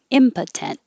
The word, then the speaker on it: impotent: Number 6, the stress is on the first syllable and the O changes to impotent, impotent.